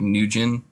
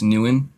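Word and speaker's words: Nguyen: forgot Newan new yeah we said it like nin but it's Newan could it the same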